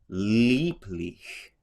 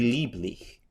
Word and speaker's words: lieblich: And then you have, again, the same vowel combination, IE, so V, lieblich.